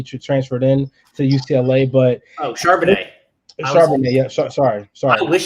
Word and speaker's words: Charbonnet: So I'm looking at Zach Cabernet. Am I pronouncing that right? I think so. So some fan favorites from the University of Michigan. He transferred in to UCLA, but Charbonnet.